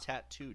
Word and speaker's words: tatau: It's pronounced tattoo, Dennis.